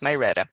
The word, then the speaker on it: Marietta: you're mispronouncing the city it's not Mariette it's my redo oh my goodness first